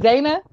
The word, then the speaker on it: Zaynah: Is it Zaynah?